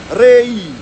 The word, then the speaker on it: Whangarei: And it's the EI, putting that together, it sounds like a bit of an A. Where if you actually pronounce it properly, it's A-E. A-E. A-E. Rei. Rei. Rei. Now we've gotten lazy over time and it's sounding like Rei or Ray. Alright, so it's Rei.